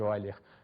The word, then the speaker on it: Euler: Escreve-se Euler, mas pronuncia-se Euler. Era um matemático alemão.